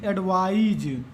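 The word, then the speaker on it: advise: लेकिन एडवाइज, ये स्पेलिंग में भी है, एडवाइस इसको पढ़ते हैं, इसको एडवाइज पढ़ते हैं।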